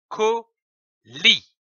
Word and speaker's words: colis: Prenons une autre syllabe, comme par exemple lit, L-I-S, lit. L'association de ces deux syllabes donne colis, comme un colis.